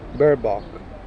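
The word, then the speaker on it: Baerbock: you pronounce oh yeah you always skip the second letter right so it's bear Bop bear bock they couldn't put you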